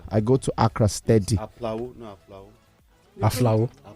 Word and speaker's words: Aflao: Aflao. There's no P there. No? Yeah, that's how it's pronounced.